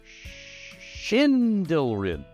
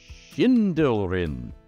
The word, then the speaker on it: Sschindylryn: So how, before all the gods, would you pronounce that? Well, the answer is Sschindylryn. Sschindylryn. So, are you from Sschindylryn?